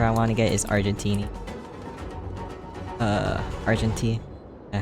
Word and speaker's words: Argenti: The next future character I want to get is Argentini. Argenti. And how to say his... Sorry, Argenti. I don't know why I was saying it like that.